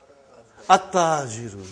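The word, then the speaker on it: التَّاجِرُ: How will you pronounce this now? At-ta-jiru. You did not pronounce al. You did not pronounce lam. Okay, you did not pronounce, you skipped it. Okay? At-ta-jiru. You see, your tongue has to touch, you know, the upper part of your mouth inside.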